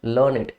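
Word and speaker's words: learned: क्या है लर्ड है तो जब आप इसको एडजेक्टिव की तरह यूज करेंगे दिस इज प्रोनाउंसड लर्नेट ओके एंटन मस अपोजिट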